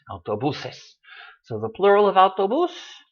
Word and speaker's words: autobuses: ends in an S so it should be stressed on the next to the last syllable and it is autobuses so the plural about